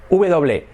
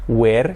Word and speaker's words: were: So, were, la pronunciación, escrito W-E-R-E, fijaros esta pronunciación importante, que no es were, que se suele decir, se dice were.